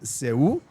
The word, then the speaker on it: Seú: I'm about to be educated on two things about Carnival in Curaçao and Seú, which is something.